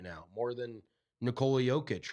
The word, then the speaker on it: Jokic: nobody can even pronounce his name correctly. So Nikola Jovic. Nikola Jokic.